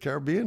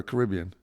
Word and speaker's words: Caribbean: Caribbean or Caribbean? They can pronounce it either way.